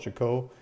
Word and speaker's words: Chicot: and one of the local local guys is pronounced Michiko so I'm gonna try I'm gonna try to call it Chico if you know how to say the Chicot